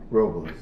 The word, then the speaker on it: Paso Robles: put them together Robles Robles you want to say it like the people who live there yes right here this